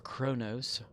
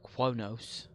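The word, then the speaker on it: Qo'noS: Remain Klingon, which is the Battle for Kronos, or Quonos. There's no R, but it's pronounced with an R somehow.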